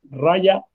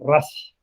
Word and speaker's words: Raja: Puede ser pronunciado Raya o Rash Yoga.